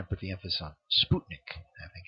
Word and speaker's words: Sputnik: she she kind of put the emphasis on Sputnik I think it's how she said it Sputnik well what's a Sputnik or Sputnik all right it's an artificial satellite